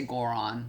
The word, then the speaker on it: Quran: you know reading the quran i know y'all say quran we say goron he says goron so i say it like he does goron and i would all